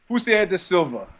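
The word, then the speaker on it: Jussier da Silva: the fighting you mean jier de Sila yeah well I'm I'm I'm here with a Brazilian is that how you say his name jier confirmed cier de Silva cier de Silva so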